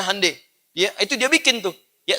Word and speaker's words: Hyundai: bikin Honda yang bikin hande Hyundai dibacanya hande yaitu dia bikin tuh